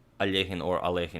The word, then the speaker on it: Alekhine: pronounce a lien well most Americans will pronounce it something like Alekhine I pronounced it like that a long long time ago but in the original Russian I believe it's a lien I've also heard a legend I've also heard eloheem but I think Peter